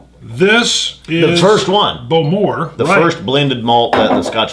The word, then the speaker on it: Bowmore: Bowmore? God, I always try to say it right. Just remember, the emphasis is on the more, as we're told.